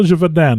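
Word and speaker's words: Gévaudan: Now, I know Gevaudan is spelled that way or pronounced that way because I've heard it. So I know I'm getting that one.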